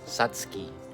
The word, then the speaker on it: Satsuki: Say for example uh yung SS Satsuki Azelia ang tamang pagkaka-pronounces is ano Satski Satski Azelia.